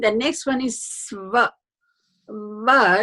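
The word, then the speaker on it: व: Va is, as you pronounce, you can see that it's a labiodental sound.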